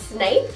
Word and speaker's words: Snape: who the heck is snape and why am i wearing this silly hat well first off my name is snape and a lot of people get my last name wrong it's snape and if you're wondering